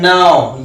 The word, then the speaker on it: know: फिर आपका आता है नाउ, यहाँ पे देखिए के तो होता है साइलेंट, यानी कि जब भी के और एन दिया हुआ हो, ध्यान रखिए अगर कहीं पे के और एन दिया हुआ है तो के क्या होता है, साइलेंट होता है।